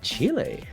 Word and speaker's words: Chile: And then we have Mexico versus uh can you please pronounce this uh country's name? Thank you, Doomsday. Um it's Chile.